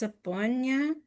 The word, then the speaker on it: Sabona: Oh, I struggle to pronounce her surname. Um, I think it's Sabona. Um, yes, that's good. You got it.